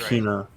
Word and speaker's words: subpoena: Subpoena. Why is it spelt like that? I don't know. I didn't Subapolina. spell it.